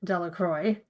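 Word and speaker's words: Delacroix: Bobby and Harry Jones and Dicky Delroy, the villager pronounced this name Delroy.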